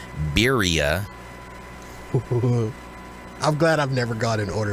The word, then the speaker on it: birria: It's not how you say it. Okay, well, tell me. Not at all. Let your Mexican side come forth. Birria. What? Birria. Birria? Birria. It's spelled B-R-I-A, right? No. It's spelled B-I-R-R-A. B-I-R-R-A. If you want to white person it up, it's birria.